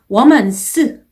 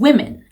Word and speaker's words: women: 여자의 복수는 womans 아니고 women, women 이라고 발음하시면 되겠습니다.